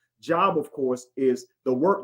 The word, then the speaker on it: Job: job j o b they say the names different but it's pronoun it's spelled exactly the same job of course is the